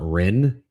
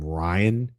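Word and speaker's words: Ryne: It is pronounced like Rin, I believe.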